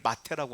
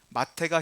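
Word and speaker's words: מַטֶּה: 가지 중요한 의미가 있어요 히브리어로 지팡이를 마태라고 합니다 마태가 히브리어로 발음할 때 지팡이를 마태라고 하는데 이게 무슨 뜻이냐면 종족의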